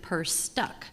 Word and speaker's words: Perstuck: My name is Perstuck, and you pronounce it Perstuck. So for those of you, my name gets bastardized quite a bit, but so just think of your purse is stuck going forward.